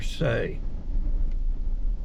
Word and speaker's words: Se: So go out, get grounded in your se your say is what is how it's pronounced.